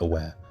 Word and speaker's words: aware: work of art is something the Japanese called aware spelled a w a r e like aware but pronounced aware aware is the aesthetic the Japanese prize the